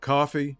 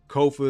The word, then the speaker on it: Kofa: I am your host, Kofa, Kofa, not coffee, not kufu, not kofi, or any variation thereof. Kofa is 4 letters. Easy to say, phonetic as hell. Kofa rhymes with sofa.